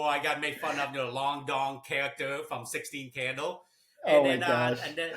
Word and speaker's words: Doan: They start calling me Doan instead. Like, is it Doan because it's spelled the same way? Like, sure, let's roll with it. So then, yes. Yeah. So I'm known as Long Doan, but Long Doan is my real Vietnamese pronunciation.